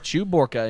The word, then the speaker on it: Chewbacca: got our shot from ig-88 D into Chewbacca Chewbacca indeed that's how you pronounce that yeah didn't you see the movie